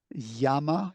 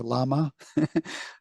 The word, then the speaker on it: Llama: from coher and meta Yama you pronounce it Yama or llama the the animal llama Alex llama llama too llama yeah in in South America would definitely be Yama but um yeah so